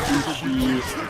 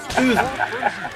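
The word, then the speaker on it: SUSE: boys like Mint, Debian, Sushi, Ubuntu. First of all, can we just correct the pronunciation of sushi, man? This is not fish. Souza. Open Souza.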